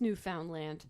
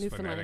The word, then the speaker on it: Newfoundland: Because it's not pronounced Newfoundland. But it's written that way. It's Newfoundland. phonetically. It's got a D in it.